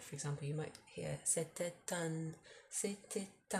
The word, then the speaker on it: c'était un: But when there's a U after it, for example, you might hear c'était un, as in you pronounce the T because it's followed by a vowel.